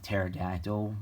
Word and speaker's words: pterodactyl: and titles like that like pterodactyl where the p is silent um that that is